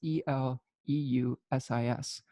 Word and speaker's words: Eleusis: As she was picking flowers in a field near Ulysses, or Eleusis, I don't know how to pronounce that. That is Eleusis.